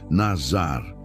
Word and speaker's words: nazar: Para entendermos a natureza desta separação, podemos olhar para a palavra hebraica nazar. Se pronuncia nazar.